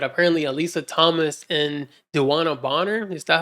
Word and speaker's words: Bonner: know this but apparently Alisa Thomas and danana boner is that how you say her name yeah Dan Bonner are engaged and have kids together like what